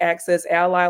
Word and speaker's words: Access Ally: next one access now you might pronounce this differently because I've access Ali excess Illinois I thought it was Ali at first it's like access Ally like an ally as a friend yeah I've struggled and